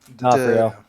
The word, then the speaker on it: D'Onofrio: But with the onset of Vincent, how do you pronounce his last name? D'Onofrio.